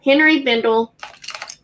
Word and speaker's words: Henry Bendel: how you pronounce it vendel not been drill bindle henry bendel we're gonna start this